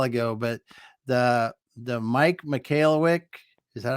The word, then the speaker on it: Michalowicz: this a while ago but the the mike mchalewick is that how i say his last name mike michalowicz colleagues there you go i can't say it